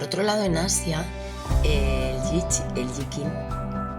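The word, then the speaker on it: I Ching: Por otro lado, en Asia, el Yikin, creo que se llama Yikin, se escribe I-Ching, ¿vale?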